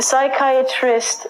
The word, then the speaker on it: psychiatrist: P the next one is a psychiatrist a psychiatrist is a doctor who can prescribe you medication